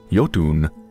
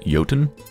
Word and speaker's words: Jotun: welcome to yotun I think the name is actually pronounced yoton but I'm not quite sure so I'm just going to pronounce it as if it was Finnish because hey why not